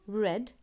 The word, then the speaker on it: read: hit read yes but the pronunciation of read becomes read red red shut remains shut put